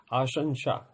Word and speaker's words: आशंसा: होगा बहुत लोगों ने इसको नहीं पढ़ा होगा आसं आसं इसका उच्चारण है और इसका अर्थ होता है इच्छा